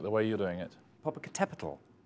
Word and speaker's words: Popocatépetl: Popocatépetl. Well, Popocatépetl is it's a volcano in Mexico, and so the Spanish I think would say Popocatépetl.